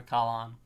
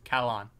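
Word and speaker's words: Calin: C-A-L for Cal and then C-A-L-I-N for Kalan. C-A-L for Cal and C-A... What? C-A-L-I-N. Kalan. L-I-N? Mm-hmm. Kalan. Like that. Yes, Kalan. Go ahead and keep pronouncing it that way.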